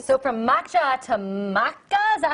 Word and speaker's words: maca: All right, so from matcha to maca, is that how you say it?